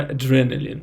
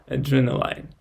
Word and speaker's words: adrenaline: Well, actually, when I read it, I see that adrenaline ends like L-I-N. So in reads like in. That's why adrenaline, not adrenaline, as I thought in the beginning.